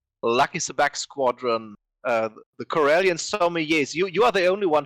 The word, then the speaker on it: sommelier: Sabak Squadron, the Corellian Sommeliers, you are the only one to pronounce that properly. So help us here. Sommeliers? Yeah, Sommeliers? in French we could say sommelier.